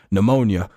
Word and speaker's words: pneumonia: I was like pneumonia, and boom, and they're like, and I'm like, what? So like, and the next kid, and I'm like, oh, silent letter.